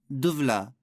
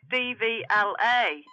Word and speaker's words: DVLA: No, it's not pronounced Duvla. It's pronounced DVLA.